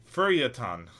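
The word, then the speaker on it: feuilleton: entertain the general reader a feature section it's pronounced feriatan for yetan for utah yes f u r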